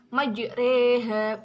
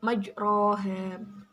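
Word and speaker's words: مجريها: lafadz majreha lafal majreha itu berharokat fathah tetapi berhubung dibacain malah jadi membacanya majreha bukan majroha nah untuk bacaan ghorib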